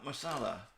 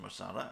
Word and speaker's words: Musella: this is lulu masala i think it's pronounced masala i am guessing to some degree it's masala in georgia i looked it up on google earth had a good look at it and it is right i don't want to